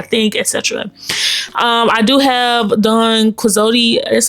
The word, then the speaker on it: Don Quixote: I do have Don Quixote.